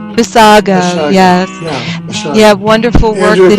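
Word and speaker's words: Basiago: Bissaggio. I always say it wrong. Bissago, yes.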